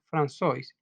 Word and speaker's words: François: Tuvo un hermano gemelo, François, se pronuncia François, que murió a los 6 meses de vida.